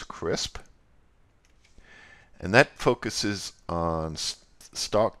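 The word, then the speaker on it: CRSP: here and this is commonly referred to by its acronym pronounced as crisp and that focuses on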